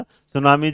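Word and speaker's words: tsunami: सुनामी जो होगा वो किसके साथ है ना, टी साइलेंट रहता है इसमें भी।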